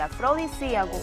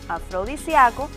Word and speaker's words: afrodisíaco: lo hice es decir afrodisíaco cuando tiene tilde es una palabra esdrújula pero si pronunciamos afrodisíaco la palabra se convierte